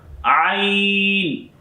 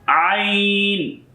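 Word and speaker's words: ع: Ain is a throatal letter. Ain. You pronounce of this letter of your throat and middle of your throats.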